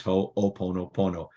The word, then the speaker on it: Ho'oponopono: If you've never heard about it, oddly enough, it's spelled exactly how it sounds. And I know it sounds weird, but it's Ho'oponopono. Trust me, you write it down, you'll actually guess the spelling.